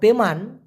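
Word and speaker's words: taman: কিন্তু বলা যেতে পারে তামান মানে হচ্ছে বাগান আর তেমান টি ই এম এ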